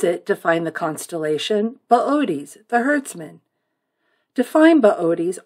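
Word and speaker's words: Boötes: in the lap of booties if you saw his name spelled out you'd want to pronounce it booties but it's booties at this time of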